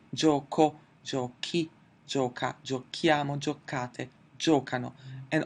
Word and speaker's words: giochi: I do want to keep the pronunciation hard so I have to add an 'H' in the 'tu' and the 'noi' form: giochi, paghi; giochiamo, paghiamo. -ere verbs have less trouble,